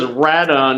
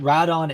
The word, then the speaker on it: Rodan: is how it's um the Katakana for it I think is actually radon instead of Rodan and then when it was brought over to the US they changed it to be Rodan and I think there